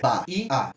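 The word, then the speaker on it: baía: Como é que a gente pronuncia Bahia? Bahia. 3 sílabas, certo? E quando a gente vai achar a tônica, a gente faz a pronúncia de novo para ver, Bahia. Então, de novo, a gente tem uma ascendência na segunda sílaba.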